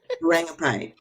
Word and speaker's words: Rangubphai: Rangubphai.